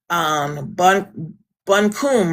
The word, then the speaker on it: Buncombe: Right, and to give you guys an outlook of how long you poor soul, Avery County, Buncombe, right? Is that what it's Bunkum. pronounced?